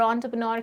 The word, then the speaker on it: entrepreneur: आपको एंटरप्राइज, एंटरप्रेन्योरशिप और एंटरप्रेन्योर के बारे में एक आइडिया मिल गया है कि ये क्या होते हैं। अब एक और चीज़ बता दूं, इसका प्रोनाउंसिएशन एंटरप्रेन्योर होता है।